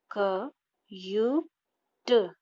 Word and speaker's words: cute: लेकिन जो ई है वो साइलेंट है और उसे हमने यू के साथ ऐड कर लिया है तो उसका प्रोनाउंसिएशन यू हो गया।